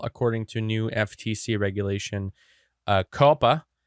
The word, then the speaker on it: COPPA: to new FTC regulation Coppa a Coppa I guess is how it's pronounced and that stands for